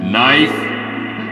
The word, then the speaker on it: knife: k silent P knife silent k for that one nits silent k for